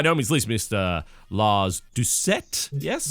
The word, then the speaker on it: Doucet: Lars Doucet. Yes? Doucet. It's French. It's pronounced both ways, but mine's close enough. Doucet.